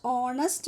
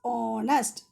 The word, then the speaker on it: honest: He is dash honest man. See, what is the first letter there? H. But H is silent. We have to pronounce honest.